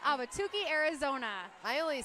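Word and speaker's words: Ahwatukee: I'm from Arizona I should get that right auki Arizona I only said it right because she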